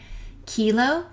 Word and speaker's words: kilo: they come together and the hard K sounds are to the left kilo and deca also don't forget that